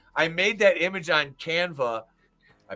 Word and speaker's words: Canva: put that together I made that image on canva I pronounced it right Draven I made that image on canva in like what did you used to call it canava oh my God you canava